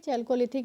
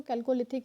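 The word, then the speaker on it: Chalcolithic: Historic वही यानी कि चैल्कोलिथिक एज से ही हम इसको कहते हैं। कहीं कहीं पे इसको कैल्कोलिथिक एज भी पढ़ा जाता है। ठीक है, डिपेंड्स ऑन योर प्रोनाउंसिएशन।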